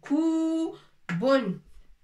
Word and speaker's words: كوب: Koubon.